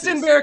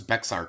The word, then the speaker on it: Bexar: day and made it thund to do in Bear County justtin San Antonio okay they play for flag huh I've like I've I've been to San Antonio many times and I always thought it was Bexar County that's how I pronounce it every single